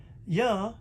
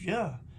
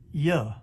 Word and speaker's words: Jah: name john it's your his name is your in hallelujah because that is the sound of the name of god not yah or ye but yeah it don't get no plainer